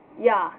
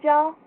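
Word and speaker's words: ja: for yes j a the j is pronounced like a y so it's pronounced yeah not gel yeah so there's that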